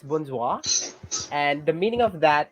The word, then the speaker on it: bonsoir: word very good actually that is the exact pronunciation of that word it's bonsoir and the meaning of that it's either hello